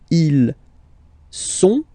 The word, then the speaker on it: sont: Okay, ils sont, final T not pronounced, ils sont, elles sont.